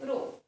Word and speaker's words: rho: So density symbol rho means we pronounce this symbol like rho.